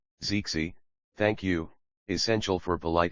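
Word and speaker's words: 谢谢: Zixie. Thank you. Essential for polite interaction. The second is pronounced in the neutral tone.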